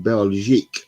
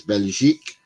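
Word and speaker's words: Belgique: he was born in belic belic not Belgium belic and plays for La marok not Morocco let's get this straight it's beljic and morok that's how they pronounce it in their countries uh not how us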